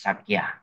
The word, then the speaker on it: Sakya: So, you know, again, if you use Pali phonetics, it's Sakya. Correct?